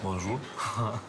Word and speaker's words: Bonjour: Выучи наизусть и ставь ударение на последний слог. Bonjour.